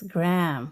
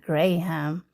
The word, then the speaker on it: graham: And then when I showed pictures, he was like, that's graham crackers, not graham. Okay. So that's another way. We just pronounce every syllable.